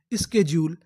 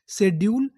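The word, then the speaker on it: schedule: लेकिन हम लोग हिंदुस्तान में इसे क्या बोलते हैं, शेड्यूल या स्केड्यूल। आप चाहे तो शेड्यूल बोलिए, चाहे तो स्केड्यूल बोलिए, चाहे तो स्केड्यूल बोलिए, लेकिन जो हमारी प्रॉपर इंग्लिश है उसमें क्या बोलते हैं, स्केड्यूल।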